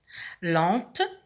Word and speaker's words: lent: Lente, au masculin c'est lent. La lettre finale muette, c'est le T, que l'on trouve ici au féminin qui se prononce, mais qui ne se prononce pas au masculin.